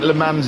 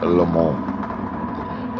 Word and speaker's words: Le Mans: Apparently Le Mans is wrong. You probably say Le Mans. You're from that way. You think Le Mans is probably fine to call it, but apparently no, it's pronounced Le Mans.